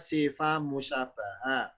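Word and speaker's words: صفة مشبهة: Contoh lagi namanya sifatun musyabbahatun, bacanya sifat musyabbaha.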